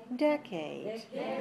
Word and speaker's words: decade: clear and it's stressed the second vowel decade the sound a a is a clear vowel but it's unstressed it's lower can you hear that